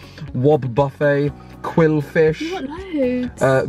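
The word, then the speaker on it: Wobbuffet: aom Slugma looks amazing wobble Buffet not wobble buffet wob buffet quill fish load uh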